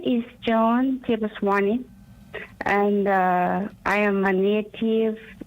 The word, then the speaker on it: Cheboswony: And as doing so, up next, I've got a special guest in here as Joan Cheboswony. I said it wrong there already. Cheboswony, as we have her